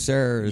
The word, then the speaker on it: Sayre: Taylor Sayre. You familiar with the last name Sayre? Last name is Sarah.